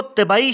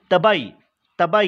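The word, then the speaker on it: طبعی: शिकस्त रीख के 2 बड़ी किस्में हैं, एक को तबाई शिकस्त रीख और दूसरे को कीमियावी शिकस्त रीख। ये तिबी नहीं है, अच्छा तबाई ये प्रोनाउंस करें, तबाई शिकस्त रीख यानी कि फिज़िकल वेदरिंग और दूसरा केमिकल वेदरिंग।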